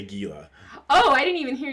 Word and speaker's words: Gila: Why did you turn the G to an H? Because that's how you say it. Okay, is it like the H becomes a J? No, J becomes an H? I don't know, but like a Gila monster.